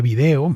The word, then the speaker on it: vídeo: También sucede con vídeo. En el español de España la tónica está en la letra I, mientras que en el de América la tónica está en la E.